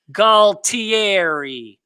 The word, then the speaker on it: Galtieri: We got the phonetic pronunciation straight from the Sopranos. It's Galtieri. Is that Italian?